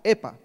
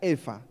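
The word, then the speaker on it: epha: Ese término en hebreo es efa, o se escribe E-P-H-A, epa, ¿sí? Pero se pronuncia efa.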